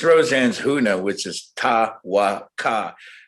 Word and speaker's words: Tawaka: It's Roseanne's huna, which is ta-wa-ka. It's spelled T-A-K-A.